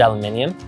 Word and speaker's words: aluminium: That's right, I pronounce it aluminium.